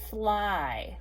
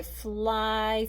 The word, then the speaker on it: fly: how would I spell fly? Like I fly through the air, fly. Write that on your board. F-L-Y. Just that letter Y makes that long I sound at the end.